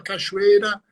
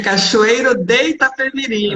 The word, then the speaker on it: Cachoeiro de Itapemirim: Terra do Rei, que eu pronunciava errado, eu pronunciava Cachoeira, né? Aí me corrigiram. É Cachoeiro de Itapemirim, mas não tem Cachoeiro de problema.